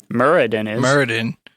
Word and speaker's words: Muradin: supposed to be okay isn't muradin a character murray dennis but some people pronounce it wrong like idiots and i'm only really